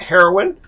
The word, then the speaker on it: Haroun: You can't say that about Haroun Business School. Or maybe you can, I don't know. And my last name is not Haroun, it's Haroun. It rhymes with baboon.